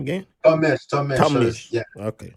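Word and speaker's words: Tom Misch: How you pronounce his name again? Tom Mish.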